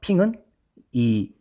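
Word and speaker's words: 平: 평진 전역 평진이 뭐예요 핑은이 베 지금은 베이징인 이때는 베이핑이 그랬어요 북평 왜 난징의 수도 아아 그러니까이 수도 경자를 떼서 북경이 아니라 북 평이라 한단 말이에요 그래서이 중국 발음으로 평이 핑이 핑 텐진의 진 합쳐서이 핑진스님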